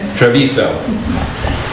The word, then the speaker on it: Treviso: And as I already mentioned, the housing forum next week, Wednesday at, how do I pronounce it, Treviso? Treviso. That sounded much better than the way I said it.